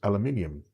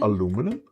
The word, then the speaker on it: aluminium: do as well because we pronounce it as aluminium. But we have this additional I in there. In the American version, there is not an I. So Americans say aluminum? Is that the thing? Where we say aluminium? Or is it written the same, but you know, in America they just don't say, they just say aluminum.